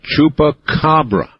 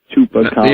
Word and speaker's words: chupacabra: It is my mission in life to teach people how to pronounce that. So let's do it. Say Chupa. Chupa Cababra. Cabra. Now say it all at once. Chupacabra.